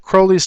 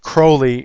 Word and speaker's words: Crowley: card this is aleister crowley's turret card and you see he wanted his name actually pronounced Crowley instead of Crowley because he wanted to rhyme with holy and I don't want